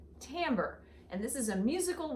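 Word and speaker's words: timbre: but it's not it's the word is actually pronounced Tambor and this is a musical word that means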